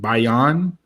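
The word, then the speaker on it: Bailon: have trouble pronouncing her last name is it bayonne how you pronounce it yeah that uh she came out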